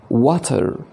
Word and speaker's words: water: زي الكلمة المشهورة water water، ديت بنطقها بالأمريكان أكسنت water water water، وبالتالي bitter bitter bitter،